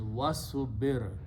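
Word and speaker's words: واصبر: word in the Quran when you combine with the vow you do not pronounce this alif here it becomes hamzatul vasel so the combination is was super and have patience and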